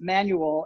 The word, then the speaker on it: Manuel: what are you because my last name i pronounced it manual and they think my name is manuel like hernandez or something like that manuel is